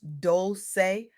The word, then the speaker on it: Dolce: I'm your host, Dolce, pronounced Dolce, like sweet softness whispered in French, and I'm your guide